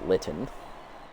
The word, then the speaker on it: Lon: 333 in the year I was pronouncing it lien it's Lon uh starting catcher sat